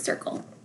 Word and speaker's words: circle: Er, when I is followed by a C, it doesn't make the k sound, it makes the s sound. S-er, k. See how it makes the k sound now? Because it's not followed by an E, I, or Y. Ol. L-E at the end of a word makes the ol sound.